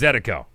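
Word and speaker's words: zydeco: how to pronounce it if you're pronouncing it in Creole it's zetiko so the Baton Rouge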